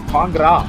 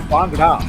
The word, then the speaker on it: Bangra: Sahil, remember Arshit, he came into our ears and he said, "I am Sahil Bangra, not Bangra, not Ra, Bangra."